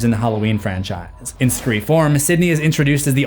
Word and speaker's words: Scre4m: Yes, that is the correct pronunciation based on the spelling, Screeform.